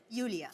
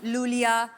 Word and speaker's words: Iulia: Pronounce Yulia. Yulia. And the spellings are I-U-L-I-A. So I Thank क्यों God मतलब? you know. I mean, why I? Thank God. Everyone is calling me Lulia, Lolia.